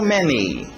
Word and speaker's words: many: How many? Tem que ter aquele I no final. Many, how many, how many.